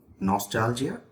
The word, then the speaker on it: nostalgia: Nostalgia St after me Nostalgia the stress is on the second sound Nostalgia it's a noun